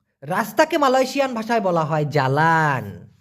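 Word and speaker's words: jalan: Malaysian ভাষায় বলা হয় জ্বালান কি বলা হয় জ্বালান এটা তো আলাদা করে মুখস্ত করার দরকার নাই কারণ আমরা বলি ভাই রস জ্বালান তরকারি একটু জ্বালায় দেন সেই একই রকম উচ্চারণ জ্বালান তবে মালয়েশিয়াতে এই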